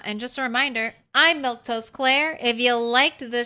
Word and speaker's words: Milquetoast: Uh, anyway, like I was saying, I'm Milktoast Claire. Let's get the full name in it. That's how you say my name.